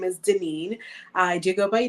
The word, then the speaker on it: Daneen: my name is my given name is Denine I do go by for those who cannot pronounce it and I uh like the bio